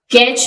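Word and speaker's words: catch: है और इसी तरह कैच में भी टी साइलेंट है ऑफर अक्सर औकात इसमें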